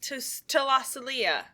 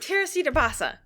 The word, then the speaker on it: Teresita Basa: Talasalia. Hey, Macarena. No, Katie, come on, focus. Talasalia. Teresita Basa. Yeah, her. Say it right. Teresita Basa. That's right.